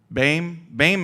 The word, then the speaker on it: Boehm: The Alsatian pronunciation of my name doesn't exist because it's a German name. Yeah. But Boehm is how we say it now.